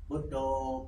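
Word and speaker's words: Buddho: go to Forest tradition B do B do can you Notice Two Word B And Do can you Notice B is Short pronunciation Do Is Long pronunciation Do You noti This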